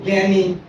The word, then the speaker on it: জ্ঞান: বিজ্ঞান, এটার উচ্চারণ হয় গয়ের জফালা চন্দ্রবিন্দু আকার, এরকম উচ্চারণ জ্ঞান, বা গয়ের জফালা চন্দ্রবিন্দুর মতো উচ্চারণ হয় জ্ঞান, ঠিক আছে?